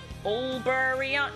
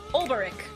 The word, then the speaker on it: Olberic: So like O is like Ober I always say his name wrong. Olberion? No, it's not Olberion. That's what I always mix him up for. Olberic.